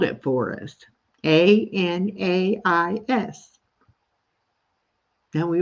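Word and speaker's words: Anaïs: you pronounce it, and it's Anais. So like Anna from Frozen and East, like ES, but it's IS, and you put the 2 dots above the I to make it a long E sound.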